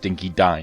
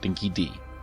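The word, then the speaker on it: dinky-di: sounding accent ever also it's pronounced dinky die not think ed dinky die get it right luckily the gameplay of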